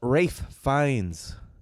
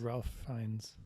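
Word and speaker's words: Ralph Fiennes: dessert could equal death with the cast of rafe finds I just learned that's how you pronounce his name but it's spelled Ralph fiends I said Ralph finds Rafe finds as a chef slowik Anya Taylor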